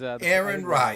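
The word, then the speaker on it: Aaron Rai: Rye or Ray, whatever we'd like to, what are we calling him? Rye? Aaron Rye, I think, is Aaron Rye, is the right who's pronunciation.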